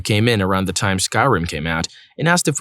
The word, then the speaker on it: Skyrim: Scrolls game I said Oh you mean Skyrim he laughed condescendingly and said no I mean scrim thinking he was just mistaken I was like oh no it's called Skyrim no it's not it's pronounced scrim at that point I